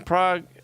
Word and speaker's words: Prague: competition the a in Prague is pronounced like the a in lard prag Prague am I saying